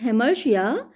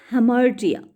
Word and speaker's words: hamartia: He must be, and this error or frailty has been termed in Greek language as hamartia. Some people pronounce it hamartia, but it is hamartia.